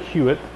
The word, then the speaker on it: Huot: this cabinet right here made by huitt hot t u they pronounce that huitt uh but they make